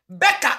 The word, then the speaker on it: Baca: And okran the pronunciation enye Baca. Baca eye B A C A.